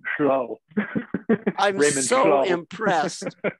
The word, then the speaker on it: Llull: In Welsh, it would be Llull.